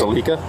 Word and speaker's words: Alica: leaving him so yeah Alica that's alah mhm how do you